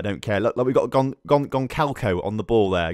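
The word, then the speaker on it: Gonçalo: Look, we've got Goncalco on the ball there. Goncalco, not Gonzalo.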